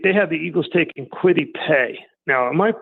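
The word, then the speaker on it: Kwity Paye: have him take they have the eagles taking quitty pay now am i pronouncing that correctly i think i am yep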